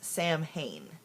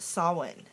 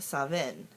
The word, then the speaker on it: Samhain: but actually it's pronounced sawin and in some traditions it's pronounced Savin um when I first started my path I said it like everybody else says it when you first look at it Sam Hayne but it's